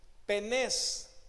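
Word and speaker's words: πένης: permanece para siempre ahí la palabra que se utiliza es penes con acento en la de penes y se refiere a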